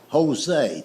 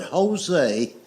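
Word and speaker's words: José: It's like the word Jose. The word Jose is J O S E, but it's pronounced with a H."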